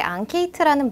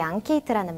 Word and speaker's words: enquête: 우리 앙케이트 조사 이런 말 많이 사용하시는데 앙케이트라는 말이 영어에서 온 말인가? 어느 나라 말이지? 라고 생각하셨을 거예요. 자, 이 앙케이트라는 말은 프랑스어에서 온 단어입니다.